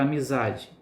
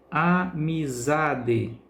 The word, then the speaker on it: amizade: maior intensidade um exemplo a palavra amizade amizade percebe-se que a sílaba é pronunciada com mais intensidade com mais força portanto é a sílaba tônica e a palavra música